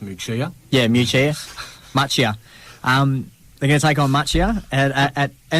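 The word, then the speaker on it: Muchea: They will now take on Muchet in the grand final at home. I believe it's pronounced Muchia.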